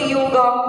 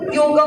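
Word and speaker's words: योग: this misconception of yoga it is wrongly pronounced it's it is not yoga it's yog okay so I'll talk about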